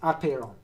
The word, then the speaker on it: apeiron: of a different archaea apeiron it actually is pronounced apero the accent on the first syllable apheron apiron to him